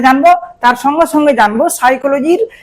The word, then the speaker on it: psychology: সেই তিনটি বিষয় হচ্ছে, একটি হচ্ছে মিনিং অফ এডুকেশনাল সাইকোলজি, শিক্ষা মনোবিজ্ঞানের অর্থ আমরা এখানে জানবো।